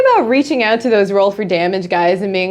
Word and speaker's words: Dameage: coupon code damage 10 that is damage with an e that is how we pronounce our name we are roll for damage which a lot of